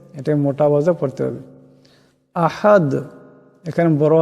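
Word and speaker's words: أَحَد: না বেলা পড়তে হবে আহাদ এখানেও দাল সাকিন হয়ে যাবে আওয়াতে ঝটকা হবে আহাদ এমন করে আপনারা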